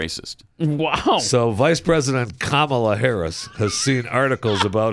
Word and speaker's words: Kamala: Has And been Kamala, by the way. It's Kamala, not If you pronounce I'll it Kamala, pronounce her you're a name.